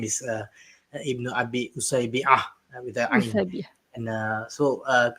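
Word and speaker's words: Ibn Abi Usaybi'a: So to start off, actually the pronunciation of the name is Ibn Abi Usaybi with the Ain.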